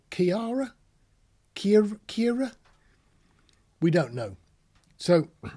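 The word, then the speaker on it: Ciara: Then we've got one called Farah Kiara. Kiara? C-I-A-R-A. Now, if you're probably Irish, you're going to say it's Kira. If you're English, you're probably going to be stuck and probably say Kiara?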